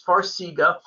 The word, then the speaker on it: Farxiga: handle that um will farxiga i'm probably pronouncing that incorrect for zika f-a-r-x-i-g-a will that help with edema yeah so you pronounced it correctly it's farsiga farsiga is one of these